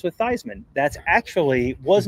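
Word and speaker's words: Theismann: Uh, Troy B says, "Fun fact, Heisman rhymes with Thyman." That's actually was not true until a Notre Dame sid when Joe Thyman was there. His last name was pronounced Theman and then they he convinced Thyman Theman to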